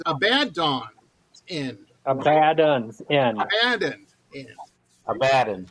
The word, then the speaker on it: Abaddon's End: say the band's name, and I messed the pronunciation up, and then I asked before we started, so I had it right. It's Abaddon's End.